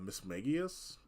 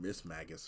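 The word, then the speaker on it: Mismagius: some of these actually might have only been pronouncing right like for like less than a year like uh Miss magius I was saying Miss Magus for like a long time um Spirits um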